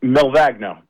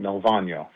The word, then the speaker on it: Milvagno: Um, Milvagno. Well, that's the the Americanized way. In in Italy, the the G is silent, Milvagno.